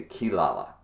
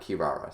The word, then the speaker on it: Kirara: that until it's confirmed no you actually pronounce it the rs not the l's so um that being